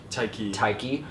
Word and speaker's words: Taika: Taika.